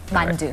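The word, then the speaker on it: 만두: Mandu.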